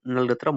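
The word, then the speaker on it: ngultrum: भूटान का नलत्रम होता है। एन साइलेंट होता है।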